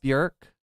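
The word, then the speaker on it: Björk: Or like a Burk. Do you know that her name's actually pronounced Burk? It rhymes with jerk.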